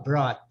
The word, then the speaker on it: brought: Brought. Brought. É o mesmo do bot, né?